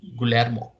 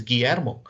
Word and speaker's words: Guillermo: and it's spelt g-u-i-l-l-e-r-m-o right typically anybody who doesn't know the pronunciation or a spanish way of pronouncing the names would call it gulermo it's fine to do